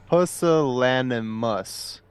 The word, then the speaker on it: pusillanimous: By the way, just to touch back a little bit here, it is pronounced pusillanimous, and the definition of it is showing a lack of courage or determination.